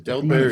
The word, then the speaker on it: Delberz: Delberz. If it's Germanic, the Z is like a T and an S, so it's Delberz.